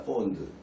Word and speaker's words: fond: fond. 영국식 발음으로는 이제 fond 이러고 미국식 발음으로는 이제 fond 이런 식으로 발음되겠죠. fond. I'm fond 이렇게 ask 할 때 아의 그 발음이 납니다.